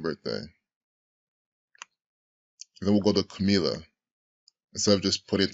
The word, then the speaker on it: Camilla: corporate in this act Camilla or Kamiya I don't know I pronounce it Camilla right Camilla because she's not Spanish right it's Pike Camilla